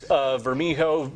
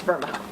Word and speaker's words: Vermijo: Vermijo between Cascade. Vermijo, that's right. After the news, my co-anchor let me know. Hey, just so you know, it's Vermijo. What's that? The street. Vermijo, not Vermijo.